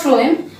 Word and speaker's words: phloem: F for food, so for you pronounce it, F for phloem. So this pronunciation trick will be helpful for learning the type of particles transported from the phloem.